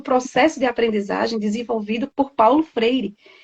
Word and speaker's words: Paulo Freire: Então era Paula Freire, daquele jeito de se falar, até eu engasguei, Paulo Freire.